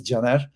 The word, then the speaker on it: Caner: never watched me before my name is Jenner it's written c a n e r I know everyone calls me kenor about this how I promise how it is pronunciated in Turkish in my language I am Turk I'm